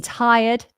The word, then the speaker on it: tired: I I I I we have this additional schw I in tired ti so we have